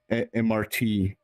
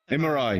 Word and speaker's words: MRI: Then the electro thing that scans your body, the MRT, if I'm pronouncing it correctly. MRI, yeah, MRI.